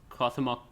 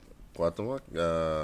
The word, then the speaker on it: Cuauhtémoc: It's Cuauhtémoc Blanco.